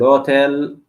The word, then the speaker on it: hotel: I'm always going to remember that the H is silent, so I'm not going to pronounce it. I'm going to try my best not to pronounce the H because it's completely silent and useless in Spanish.